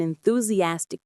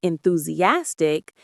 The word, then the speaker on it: enthusiastic: And enthusiastic means showing a lot of excitement and eager interest. Enthusiastic. Enthusiastic. The main stress is on that fourth syllable, ass.